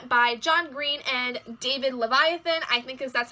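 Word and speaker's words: Levithan: grayson will grayson by John Green and David Leviathan I thing cuz that's how you pronounce his last name um I have no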